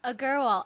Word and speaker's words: Agarwal: I try to say her second name all the time, but I don't think she can pronounce it. Give it a go. Agarwal.